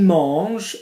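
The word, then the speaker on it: mangent: So, il mange, M-A-N-G-E-N-T, spelt with an ENT, pronounced the same as a core.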